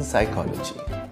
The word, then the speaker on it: psychology: this is silent letters letters that are part of the spelling of a word but are not pronounced like the P in psychology when we learned the